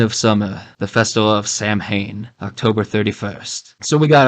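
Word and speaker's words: Samhain: anyways back to the the sawin or saman as Lumis pronounce it so he explains that it's the lord of the Dead the end of summer the Festival of Sam Hayne October 31st so we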